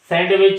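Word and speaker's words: sandwich: खामोश है और वेनसडे में डी खामोश है सैंडविच है तो सैंडविच होगा और हैडक चफ होगा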